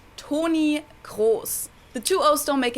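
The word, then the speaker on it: Toni Kroos: in german it's o tony cross and then of course there's german r wait your r sounds like a w tony course yeah the is like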